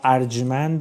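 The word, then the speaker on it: ارجمند: word for it is 'arjmand' though today we pronounce it as 'arjomand' 'arjmand' is the correct pronounciation.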